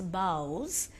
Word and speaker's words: boughs: dream beneath the boughs children please pronounce it as boughs bo ughs what is the meaning of